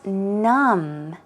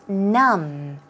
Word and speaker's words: numb: have for you is num num now if you take a look as I told you there is no B sound so the B is not pronounced its num num some synonyms are